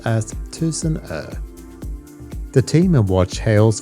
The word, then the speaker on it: Tusenö: Tucson means a thousand and er means Ireland pronounced as Tucson ER the team and watch hails from a place